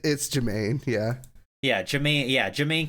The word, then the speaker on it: Jermaine: Oh yeah, it's Jermaine.